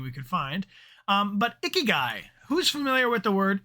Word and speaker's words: ikigai: that a lot yeah it's pronounced like icky guy yeah so the purpose